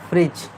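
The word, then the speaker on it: fridge: आई डी जी ई ये फ्रिज्ड हां वह साइलेंट होता है। ठीक है। ओके। फ्रिज होता है। फ्रिज डी साइलेंट रहता है।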